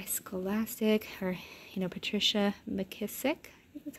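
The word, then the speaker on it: McKissack: Away Home by Scholastic or you know Patricia mckissick that's how you say it and then if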